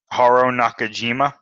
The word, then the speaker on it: Haruo Nakajima: Haruo Nakajima.